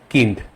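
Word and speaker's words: Kind: যার মানে এটা হবে কিন্ড কিন্ড okay B আই কে আমরা আই বলি না ই বলি যার মানে কিন্ড কিন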